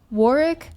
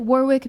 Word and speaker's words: Warwick: more uh it's pronounced Warwick. I pronounce it Warwick because I refuse to acknowledge that the UK cannot remember to pronounce the extra W in the word. That's so stupid. So, Warwick University.